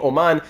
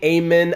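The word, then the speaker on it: Åman: Fun fact, the letter A in his name, Oman, is pronounced as O in French. So I was saying Amen, Aman, I wasn't sure what it was, but no, the A in Swedish actually has the O sound, E-A-U, en français.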